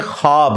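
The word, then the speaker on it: خواب: नहीं आ सकता अच्छा यह लफ्ज लिखने में है ख्वाब ख वा अलिफ बा लेकिन पढ़ने में यह ख्वाब है वा साइलेंट हो जाता है खवाब पढ़ा जाता है ये लफ उर्दू में ख्वाब खवाब नहीं है खवाब लिखने में खवाब है तो फिर उन्होंने वो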